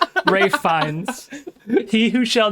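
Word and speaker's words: Ralph Fiennes: Raffin Finn. Ray Fines. Rafe. One of the finest working actors in film. Rafe fines.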